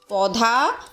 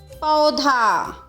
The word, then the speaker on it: पौधा: बच्चों ये शब्द भी आजकल बोलचाल की भाषा में इस तरह बोले जाते हैं। पौधा, दौलत, तौलिया, जो कि सही उच्चारण नहीं है। इसका सही उच्चारण कैसा है? पौधा, दौलत, तौलिया, चौकीदार, नौकरानी और बिछौना।